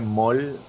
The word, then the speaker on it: Maul: Se pronuncia Maul.